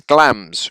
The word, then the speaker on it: Glamis: The castle is Glams, rhymes with lambs.